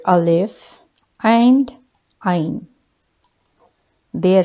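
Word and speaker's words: ع: see letter Olive and Ein their sound is a a but alif is pronounced with empty mouth I live I live and mine is pronounced from the middle of the throat Ein live I live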